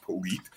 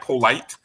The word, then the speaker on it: Polite: I'm going to get clarification, but I heard it pronounced Polite. So I think that is how you say it. I hope so. If not, it's spelled like polite, but I think it's Polite.